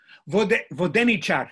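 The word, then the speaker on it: воденичар: is based is that they have a fixed antepenultimate stress. It's 2 syllables back. So for example, Vodenica, Vodenicite. I thought it was Vodenica, Vodenicite. Vodenichar, that's the word I wanted.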